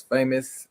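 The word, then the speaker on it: Faymous: My name is Famous, and yes, that is my real name. And as you can see over right there. You can see that they um the name is spelled different, so f a y m o u s.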